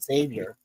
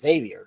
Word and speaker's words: Xavier: Yeah, well, and you know, with what was it with Xavier? Well, that's the way you pronounce it, Xavier. That's Mhm. you know, X is like a KS. So Xavier, Yeah, Xavier.